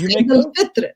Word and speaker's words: Eid al-Fitr: So yes, Eid al-Fitr is the right word, right pronunciation, and it is called the meaning of it.